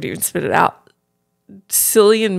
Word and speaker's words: Cillian: Cillian Murphy? Isn't it Killian?